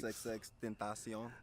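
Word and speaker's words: XXXTentacion: XXX Tentacion.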